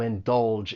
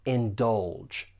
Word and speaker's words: indulge: For pronunciation, there are two syllables. The stress is on that second syllable and that g has more of a J sound. Indulge.